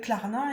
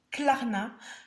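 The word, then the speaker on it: Klarna: c'est comme ça et quand on peut avec clarna et ben ça nous enlève une épine du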